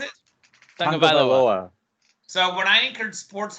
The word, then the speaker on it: Tagovailoa: I don't really want to pronounce his last name because I'm going to mess it up. I think it's Tagovailoa. That's correct. Is it? Tagovailoa.